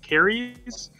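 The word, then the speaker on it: Kairos: Caries is the pronunciation.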